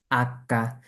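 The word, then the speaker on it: acca: জি এভাবে উচ্চারণ হবে তারপর আমরা যেটাকে এইচ বলি সেটাকে ইতালিয়ান কি বলে আক্কা কি খেয়াল করুন আক্কা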